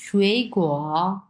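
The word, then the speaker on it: 水果: হুম, এরপরটা হচ্ছে শুয়েই গোয়া, ফ্রুট, F নাম্বার হবে। যেহেতু দুটাই পাশাপাশি 3 নাম্বার টোন, সো এই শুয়েই, প্রথম শুয়েইটা হচ্ছে 2 নাম্বার টোন উচ্চারণ করবো, শুয়েই গুয়া।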